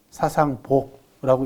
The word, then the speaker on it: 사상보: 나중에 이게 부자를 붙이고 읽을 때는 뒤에 오면은 보라고 읽습니다. 사상보라고 읽어요.